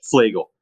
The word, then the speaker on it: Flagle: Flegel.